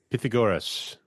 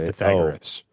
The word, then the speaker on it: Pythagoras: Pythagoras. Pythagoras. I've only ever read it in a book. That's how you're supposed to pronounce it. But everybody says Pythagoras.